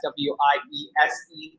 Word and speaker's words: Wiese: That's W-I-E-S-E, Larry. Wiese, like we see, you don't pronounce it as the Germans would.